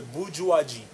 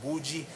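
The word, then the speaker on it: bourgeoisie: the idea main one if i have to say the bujuwaji which is the money class you heard a few people saying bhuji it's come from bujuaji now well if i have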